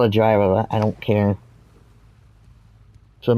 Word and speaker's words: gyro: It's not gyro when you're talking about the food. It's Greek, so it's gyro.